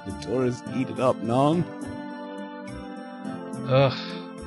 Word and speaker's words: non: Oh, the tourists eat it up, non? Ugh. If you're gonna pronounce non in French, don't pronounce the last N.